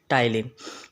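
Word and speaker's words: ptyalin: आप यहाँ स्पेलिंग लिख सकते हैं, पी यहाँ पर साइलेंट है, PTYLINE, टाइलिन।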